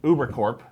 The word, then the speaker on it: Ubercorp: know, Ubercorp, and you pronounce the P because it stands for corporation, not like military corps.